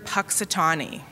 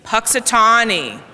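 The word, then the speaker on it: Punxsutawney: Puxatawny. I know it doesn't look like that's how it's spelled, how it should be pronounced, but that's really how it's pronounced.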